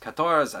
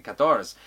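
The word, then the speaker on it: Katorz: one here called katars spelled phonetically with k-a-t-o-r-zed but pronounced katoras as in the french number for 14 kators anyway uh this here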